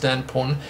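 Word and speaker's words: DanPWN: Okay, so Dan Porn asked, I think it's just pronounced Dan Porn, PWN.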